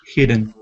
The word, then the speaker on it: hidden: I did maybe but I'm I said it hidden yes I just already did hidden here didn't